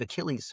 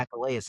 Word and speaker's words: Achilles: What I learned in class was his name is actually Achilles. You don't say Achilles. Mhm. Achilles is the way you pronounce his name.